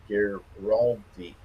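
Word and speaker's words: Girardi: The the attorney in California that I talked about last time, Giraldi, I said it right this time, right?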